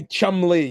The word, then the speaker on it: Cholmondeley: um with pronunciation of my name. So There we go. you Uh, just say Chumley, yeah, Did okay.